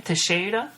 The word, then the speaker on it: Teixeira: Glover, and how do you pronounce his last name? Teixeira? Teixeira. So you say it faster, Glover Teixeira.